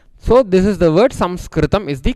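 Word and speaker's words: संस्कृतम्: pronunciation for the correct name and the correct pronunciation of this language is Samskritam. Why we don't use the word letter I? I'll tell you little later, you will understand. So, this is the word Samskritam is the correct word.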